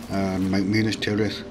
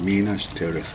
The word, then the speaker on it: Minas Tirith: Minus Tirith, or Minus Tirith, depends on where you are, where you want to pronounce that. But it used to be Minus Tirith, that's lads. And yet in the Tolkien films it's Minas Tirith.